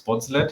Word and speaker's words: Bonset: you also resolved this it's bonset it's uh I'm coming from cologne so that's the way how we pronounce it it's Gish c not not French or Belgium in this case um yes and I'm